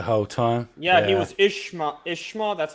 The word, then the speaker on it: Ishmael: Yeah, he was Ishma. That's how you pronounce it. Ishmael.